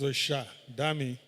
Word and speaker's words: Oshademi: but Asha Oshademi. Please forgive me if I murdered your name. Please. A round of applause. Thank you. What's the actual pronunciation? It's Osha, Dami.